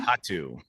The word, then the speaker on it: Kohatu: So and as far as the hop is concerned, I'll just spell it. KOHATU. Oh yeah, Kahatu, I think. Kahatu.